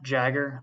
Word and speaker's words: Jager: It's pronounced Jagger. Like Mick Jagger is the easiest way to remember.